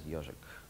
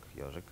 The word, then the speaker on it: Yozhik: It's a very forced acronym, and you pronounced it as Yozhik. Also, not obvious.